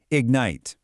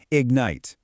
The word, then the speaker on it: ignite: Listen closely to the American pronunciation. Ignite. Ignite. The stress is on the second syllable.